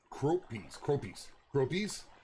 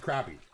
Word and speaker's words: crappie: You've known them to be called croppies. Okay. Okay. Oh, you're going mule deer hunting. Man. I'm jealous. In MD, you pronounce it crappy.